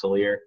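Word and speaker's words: Salers: It kind of looks like sailor in the name, but it's actually pronounced Salier.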